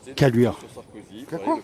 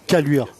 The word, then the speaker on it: Caluire: Caluire. Caluire. Comme ça se prononce.